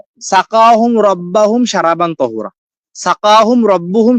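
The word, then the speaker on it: سقاهم: এখন আমার আম্মু আমাকে ছোটকালে পড়াইছে কি একটা সাকাউন রব্বাউন সারাবন্ত ওরা এরকম একটা ভুল উচ্চারণ, এই ভুলটা কিন্তু আমার সারা জীবন থেকে গেছে। সাকাহুম হ্যাঁ রব্বুহুম, আমার আম্মু পড়ে সাকাউন রব্বাউন, ঠিক আছে?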